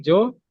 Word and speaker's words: 女優: Berarti bacanya itu Yu ya. Kan Yu-nya saya. Berarti Joyu. so ですね。女優。はい。Ya, aktris. ですね。女優. Aktris. Artinya artis wanita gitu ya, Joyu.